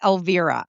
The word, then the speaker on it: Elvira: And my first name is pronounced Alvivera.